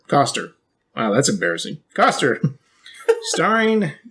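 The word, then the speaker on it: Koster: Kissinger? Is it Kissinger? No, it's like Coster. Coster.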